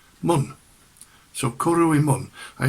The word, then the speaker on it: Mynd: Now it's spelt Mynd, but it's pronounced in Radnorshire Mun.